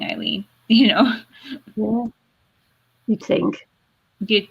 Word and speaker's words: Ilene: at my name and go elaine it's like it's not it's spelled i l e and e it's an i like it could be easier than the e wave spelling eileen you know you think